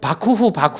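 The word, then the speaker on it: 幕府: 그게 이제 일본식 발음은 막부는 우리 한자를 그대로 읽는 거고, 바쿠후 하는 게, 그 바쿠 그냥 막말이라는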